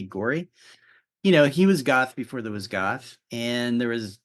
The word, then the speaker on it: Gorey: Gary Gorey, is it Gorey? I always say Geary, but there's another famous Gary, so I'm probably conflating the two. But I think maybe Gorey.